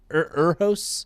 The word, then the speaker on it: Urho: U R H O apostrophe S, Urho's.